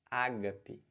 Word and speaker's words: ágape: isso é o Ari tá é ouro vento Ágape proparoxítona é altruísta né a gente conhece o